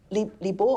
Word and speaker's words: Li Bai: Li Bo or Li Bai, Li Bo was the old pronunciation, had a character that was very charismatic.